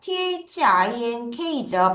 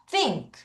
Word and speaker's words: think: think죠. 발음 어떻게 해요? th 발음해서 혀를 넣었다 빼야 되죠. 뭐라 그래요? think. 다시 think.